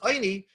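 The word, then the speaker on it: עיני: It's not written with an aleph. It's written with an ayin, and it's pronounced Eini.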